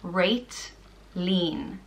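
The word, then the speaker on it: Réiltín: The next name is Réitlín, and it means little star, and it's pronounced Réitlín.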